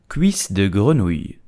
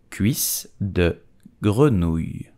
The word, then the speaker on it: cuisse de grenouille: English like to call it frog legs, but how do you pronounce it in French? You will say cuisse de grenouille, cuisse de grenouille, cuisse de grenouille, cuisse de grenouille.